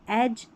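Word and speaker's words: edge: डी जी को ज कैसे पढ़ा, क्योंकि यहाँ पर डी का उच्चारण नहीं है, डी साइलेंट, और जी को ज पढ़ दिया। तो एज, यहाँ पर है बजट,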